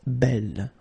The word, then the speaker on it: belle: So it's actually quite interesting because these two forms, so the second masculine form and the feminine form, are phonetically the same. It's belle. Okay, so belle, belle.